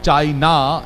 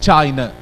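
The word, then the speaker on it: China: pronunciation tip देता हूं words व्च and with letter ए and begin with letter ए normally have sound अ एंड नॉट आ so this is नॉट चाइना इट्स चाइना चाइना stress on the first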